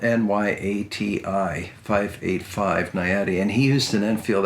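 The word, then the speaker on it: Nyati: in I forget which state had a 585 nayadi and for those of you that don't know that cartridge that's spelled n-y-a-t-i-585 nayadi and he used an infield action these actions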